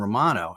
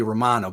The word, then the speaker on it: Romano: in Canada it's Romano in Philly it might be Romano but in Canada it's Romano so in the interest of not butchering your last name all next season how do you want to be pronounced yeah so it's interesting you know uh in Canada we say our A's a little different we enunciate a little differently so yeah in Canada it's Romano but I you know I